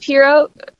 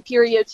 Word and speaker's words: Pierrot: It's pronounced Pierrot. Is the proper pronunciation. I used to say Perriot too.